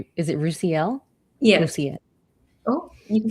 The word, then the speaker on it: Roosiel: I would say, is it Roosiel? Yes. Roosiel. Oh, you can say both. Just my name does not have a hard S. It's a soft S. Roosiel. Yeah, Roosiel.